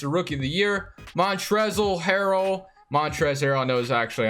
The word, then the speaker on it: Montrezl Harrell: Montrezl Harrell, I know is actually how you say it.